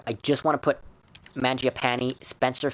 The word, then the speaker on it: Mangiapane: Mangiapane. Or Mangiapane, I think is how you pronounce it, is Italian. Mangiapane would make more sense.